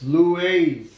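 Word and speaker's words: λύεις: Lues, because epsilon iota is pronounced like the EI in the word weight, okay, or freight.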